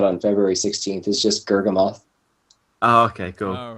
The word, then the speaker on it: Gurgamoth: The most common mispronunciation is Gurgamel.